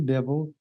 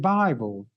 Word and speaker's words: Bible: I read the Bible I call it the Bibble and as I told the people with whom